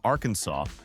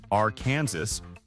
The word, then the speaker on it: Arkansas: in 1881 that declares the only correct pronunciation is with a silent s at the end. If you walk into a bar in Little Rock and say, "R Kansas," you are technically breaking the law.